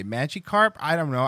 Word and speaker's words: Magikarp: i've never had to say it let's see magic crap no no um dumbass well that's not real how to pronounce magikarp magikarp magikarp magikarp magikarp magikarp there you go